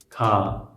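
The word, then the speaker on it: 가: Actually, it is not G or K, it is in between because it is not Ga, it is not Ka, it is Ka. Ka.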